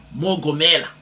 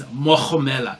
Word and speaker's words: Mohamela: I saw this name for the first time, and then I said Mogomela, and he's like, no bro, it's Mohomela.